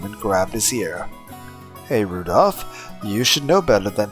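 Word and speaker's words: Rudolf: It's just Anyway, this guy, his name is pronounced Rudolph.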